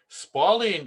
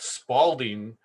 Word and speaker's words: spalling: of the word spalling spalling is spell sort of like uh the word falling it it's not Spalding Spalding is actually a brand of a basketball in sports so be sure to pronounce it correctly and also uh Please